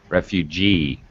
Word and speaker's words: refugee: this one refugee yeah i need to hear the like j sound refugee all right notice the